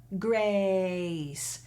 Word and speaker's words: Grace: 是很常見的 “A” 是一個雙元音組合裡有 /e/ 和/ɪ/ “Grace” “Grace” 好就是這原因好的妳只要記得把 “A” 的音最後收攏用雙元音的後半部好嗎？